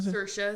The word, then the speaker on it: Saoirse: Saoirse is how you say it?